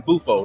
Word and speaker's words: Bufo: Now in Bufo, right?